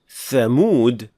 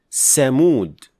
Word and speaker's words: Thamud: The final mistake is when producing tha, some learners mispronounce it as seen. So instead of saying thamud, they would say samud.